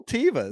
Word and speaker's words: Teva: tevas yeah teva's tevas however you pronounce them i'd say tivo's i think they're supposed to be said tavis but i say teamvis i know i and maybe because they used to be tivas and now people call